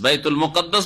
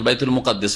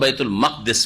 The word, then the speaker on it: বাইতুল মুকাদ্দাস: হয়েছে, যেখানে বাইতুল মুকাদ্দাস, বাইতুল মুকাদ্দাস বা বাইতুল মাকদেস। জি, বাইতুল, অনেক বাইতুল মুকাদ্দেস পড়ে আমাদের দেশের লোকেরা, বাইতুল মুকাদ্দেস না, বাইতুল মুকাদ্দাস অথবা বাইতুল মাকদেস পড়বেন, দুই রকম উচ্চারণ ঠিক।